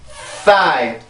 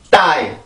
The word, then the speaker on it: thigh: 그 학생들이 이 발음을 할 때 이렇게 깨물고 발음을 하는 경우가 있어요. 윗니와 아랫니로 이렇게 혀를 깨물고 하는 경우가 있는데 그렇게 하면 이 소리를 정확히 못 냅니다. 이 소리는 마찰음이에요. 마찰음. 그래서 윗니와 혀 사이에서 마찰이 생겨서 만들어지는 소리인데 깨물면 마찰을 만들 수가 없잖아요. 이거는 폐쇄 형식으로 소리가 되지. 그죠? 깨물고 발음을 하면 die, die 이런 식으로 소리밖에 안 돼요.